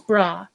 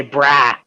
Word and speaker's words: bra: and it goes where they put a w right in the middle of a bra you know and it's